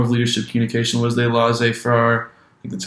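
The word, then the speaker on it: laissez-faire: you know form of leadership communication was they laissez far that's how you say it form of leadership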